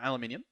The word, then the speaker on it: aluminium: By the way, if you're wondering whether it's aluminum or aluminium, they're spelt differently. This one is spelt aluminum, so I'm saying aluminum. Even though in my country, we'd probably spell it and say it aluminium, but it's fine.